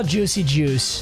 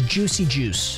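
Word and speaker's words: Juszczyk: quarterback I'm actually gonna cry let's go Kyle Juicy Juice and Yes actually I spoke to him in person that is how you pronounce his last name it is Juicy Juice and that means this next spin is our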